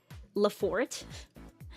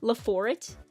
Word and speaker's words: Laforet: that's an appropriate volume that's a very French pronunciation well what do you what am I supposed to come what am I supposed to call it like laforet laforet like it's it's even in Japanese it's written as like la like the like it's it's written in the French way I'm not going to